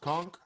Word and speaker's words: conch: uh uh so i i realized it's just pronounced conch that's junk oh is that like the [